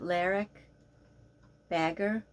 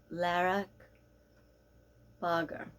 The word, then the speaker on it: Laerke Bagger: In America we would pronounce it Laerke Bagger, but I believe it's Laerke Bagger.